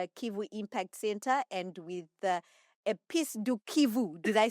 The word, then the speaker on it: Épices de Kivu: And yeah, all the very best with the Kivu Impact Center and with Épices de Kivu. Did I say it right? Absolutely. Épices de Kivu.